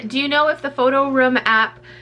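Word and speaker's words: PhotoRoom: the photo room app i tried to pronounce it room this time because i guess i said rum i guess i guess i have an accent i guess i pronounced the app photo rum photo room photo room that's how i say it photo room um yeah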